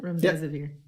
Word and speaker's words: Remdesivir: Is that how you pronounce it? Remdesivir.